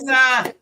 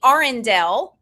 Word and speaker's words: Arendelle: Ardel, I think I said your name wrong. It's Arendelle, not Ardel, but Arendelle. It's actually Arendelle. Arendelle. Yes, it's the letters R and L.